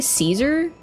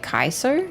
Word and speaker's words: Caesar: even sound that good C is pronounced like a K in the proper vacular yeah I thought that like we say Caesar but like apparently it was supposed it was more pronounced like Kaiser but we don't really